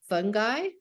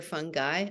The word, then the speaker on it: fungi: but it's also uh fungi I like the way you can pronounce it fungi or fun guy I kind of like fun guy and a class of